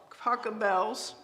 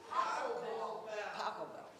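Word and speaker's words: Pachelbel: Did Taco Bell's Taco Bell Taco Bell Jackie, tell me the right pronunciation. Paco Bell.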